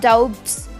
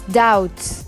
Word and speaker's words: doubt: to climb tree climb the other word is doubts doubts it's not dopes or dobits it's doubts like we say I don't doubt your ability and it's doubts